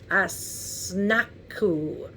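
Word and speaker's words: Asnaku: I'm sorry a-s-n-a-k-u -n-a-k-u-k-u how do you pronounce that I snaku uh-huh so some interesting things going on it sounds like a snake to me um so then they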